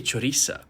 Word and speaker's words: Choriza: right like okay sure maybe the th is not something that comes naturally to you i know i struggle with it sometimes but then just say choriza i really enjoy during